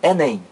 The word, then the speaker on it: Enem: do que está aqui eu não pronuncio cada letra separadamente não eu não digo é NM eu digo Enem então aí mais um